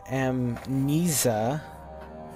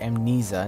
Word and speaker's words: Amnesia: and welcome back to em Mesa and it's pronounced amnesia not em neva amnesia the Dark Descent no